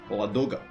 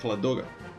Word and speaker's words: Ladoga: with the Soviet positions the lake ladoga or at least that's how it's pronounced in my language the lake loga it froze and the